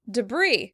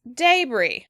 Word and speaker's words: debris: As you can hear, it's completely different because we use the schwa in the American version and the British pronounce the day really clearly.